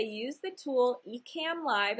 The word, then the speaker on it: Ecamm: Number one, I would say use the tool Ecamm Live. It's spelled E-C-A-M-M Live.